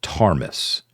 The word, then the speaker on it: Ptarmis: as the Deeds of Tarmis, and Tarmis is spelled Ptarmis.